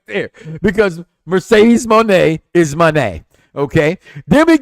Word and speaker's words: Moné: Because Mercedes Moné is Moné.